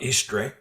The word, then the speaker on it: Eastre: And there was a festival in her honor, as we well know about Istre, and it's spelled Eastre.